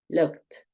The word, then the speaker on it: looked: Tú no vayas a decir looked, es looked, looked. Termina en K y sigue una T, looked.